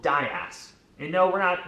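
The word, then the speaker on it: DIAAS: It all comes down to one thing, something called dias.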